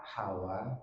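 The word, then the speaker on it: هوى: Pakai hak besar ya, bukan pakai hak kecil. Kalau hak kecil itu istri Nabi Adam, Hawa ya. Jadi bacanya bukan Hawa, bukan, tapi Hawa ya. Hawa itu istri Nabi Adam, kalau Hawa itu keinginan, nafsu diri sendiri.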